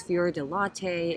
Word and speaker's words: fior di latte: The cheese they use is fior di latte, and that's not how you pronounce it. Fior di latte. Let's just pretend that's right.